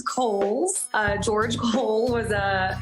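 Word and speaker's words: Cowles: the city we love so much it is pronounced kohl's uh george cole was a an early land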